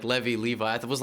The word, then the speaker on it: Levy: had to deal with levi's yeah and i also had to deal with in in english levy is a last name so my name is a last name and it's pronounced levi i don't know why